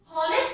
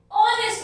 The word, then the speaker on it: honest: आ रही है और H हमारा साइलेंट है, तो इसलिए इसके आगे लगा A-N-N. अब देखिए honest साउंड क्या आ रही है हमारी? O की साउंड आ रही है एंड H इज यहाँ पर साइलेंट. honest नहीं बोलते हम इसको, हम क्या बोलते हैं? honest बोलते हैं. तो H इसमें साइलेंट है, तो माना क्या रहेगा?